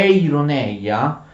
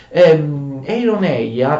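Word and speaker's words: εἰρωνεία: Ironia, fate attenzione, ironia in greco è ironeia, vuol dire finzione, d'accordo?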